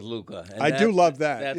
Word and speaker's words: Luka: You just love that hookah rhymes with Luka.